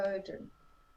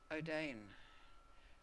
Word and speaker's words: Oden: John, So is it I, Odin? Right. I thought it was O'Dane.